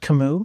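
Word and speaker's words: Camus: doing Albert uh Albert kamu kamu kamu it's pronounced kamu yeah c a Ms is pronounced Kam cus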